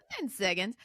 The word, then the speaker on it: Siggins: right right Dustin correct at least you're not saying Higgins you're actually pronouncing siggins but Dustin has written